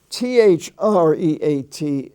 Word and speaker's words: threat: sweet it's pronounced sweat t-h-r-e-a-t is pronounced threat like a like a short e uh the word dealt